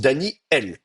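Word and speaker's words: דניאל: Normalement, ça se prononce Daniel, et le aleph est une consonne qui bloque le passage de l'air. C'est un coup de glotte, hein.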